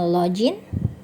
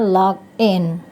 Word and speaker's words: login: Kata ini mungkin ada yang membacanya login, yang benar membacanya login.